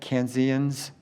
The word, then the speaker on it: Kansans: Uh and then for uh a couple new Kansas, how do you say that? Canens a couple new canens.